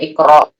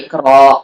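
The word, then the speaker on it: اقرأ: Jadinya tuh dibacanya iqra, bukan ikro, kan harusnya ikro, tapi ikro.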